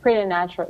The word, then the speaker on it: preternatural: Preternatural, yeah.